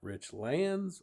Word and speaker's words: Richlands: How do you properly pronounce is it rich lands or richlands?